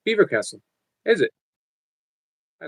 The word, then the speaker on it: Belvoir Castle: Belvoir Castle is pronounced Beaver Castle.